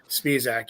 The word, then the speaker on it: Spezac: Speedac just to just to hate to correct you, but I I said his name wrong for like five months before he finally corrected. Spezac.